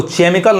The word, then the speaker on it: chemical: देखिए जैसे CHEMICAL, अब इसको केमिकल नहीं कहेंगे, केमिकल, यानी क्या पढ़ेंगे इसको हम, केमिकल, क पढ़ेंगे।